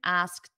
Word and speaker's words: asked: past simple is asked notice that pronunciation asked it ends in a very soft T everyone repeat after me